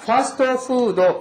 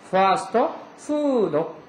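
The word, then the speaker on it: ファストフード: 달라 파스토 푸도 요거 장음 있는 거 주의하시고요. 파스토 스토 파 길어지죠. 파스토 푸도 이거 우리말로 쓰면 패스트푸드인데 일본은 F 발음은 전부 푸 발음으로 넣게 되어 있죠.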